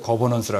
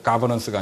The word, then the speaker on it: 거버넌스: 그래서 그것도 또 미국식 발음이야 영국식 하는데 거버넌스라 그러죠. 가버넌스가 아니라.